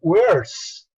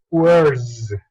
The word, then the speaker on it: where's: vas a pronunciarlo como where's, estaría muy mal pronunciado, sino aquí, con el sonido Z. Entonces la pronunciación aquí correcta es where's, where's, your turn.